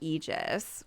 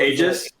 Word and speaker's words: Aegis: Pi's one about Eegis, which is it pronounced Egis pronounces, right? Three. Eegis. Oh, Aegis. Aegis. Is it Aegis? A I think it's Aegis. Yeah. Yeah, it's Aegis. Robot lady. All right. I've been saying Eegis this whole time.